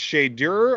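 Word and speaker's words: Shedeur: I believe it's pronounced Shador or Shador.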